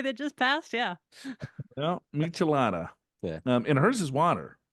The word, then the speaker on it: Michelada: A Michelada. I wouldn't even know how to pronounce that.